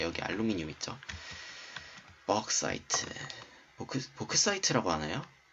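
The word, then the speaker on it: bauxite: 벅사이트, 보크사이트라고 하나요? 네, 보크사이트라고 했었죠. 원래 보크사이트, 잠만, 나 이 벅사이트를 맨날 복사이트라고 읽으니까 보크사이트랑은 다른 건 줄 알았는데 이번에 말하다 보니까 알았네.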